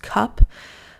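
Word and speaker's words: Cuup: out for it is I think it's just pronounced cup but it's c u u p really great bra brand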